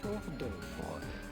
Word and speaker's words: hors d'oeuvre: Simply hors d'oeuvre. Hors d'oeuvre. In French, typical French pronunciation. Hors d'oeuvre. The H and the S Hors d'oeuvre are silent, so do not pronounce them.